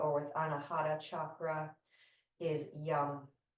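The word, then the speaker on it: yam: with anahad chakra is Yum it's spelled y a m and it's pronounced yum so maybe you can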